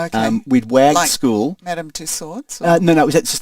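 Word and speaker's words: Madame Tussauds: Madam Two Swords. No, no. Is that just the Royal Museum? I went to Madam Two Swords and I had nightmares for months afterwards about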